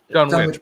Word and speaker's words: Dunwich: Dunwich, but yeah. I always call it Dunwich because there's places over here spelt like that which are pronounced Wick.